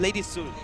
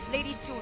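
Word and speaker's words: Lady Sun: Um they uh they banned the Lady Son. Is that Did I pronounce it correctly? They decided Lady soon. Lady soon. Okay. It's like coming soon.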